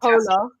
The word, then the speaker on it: Phola: I'm probably Pola. I always say it wrong. Yeah. But it's spelled with a PH. I do know that. Yeah, exactly that. Yeah. So it's called Pola.